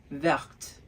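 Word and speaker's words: vertes: Now notice I pronounced the T for the plural form. So, Is it a masculine plural or a feminine plural, I said? Ooh. Did you guess it? That's right. I said the feminine plural because I pronounced the T, verte.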